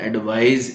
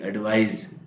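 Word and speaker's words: advise: एडवाइस recommendation सलाह और दूसरा है एडवाइज ए डी वी आई एस ई एडवाइज recommend सलाह देना ये एक्शन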